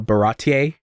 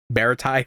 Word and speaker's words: Baratie: So, I didn't know that actually the pronunciation of the restaurant is called the Baratier. That's how it's pronounced. I thought it was Baritai for a good bit, but I was reading it.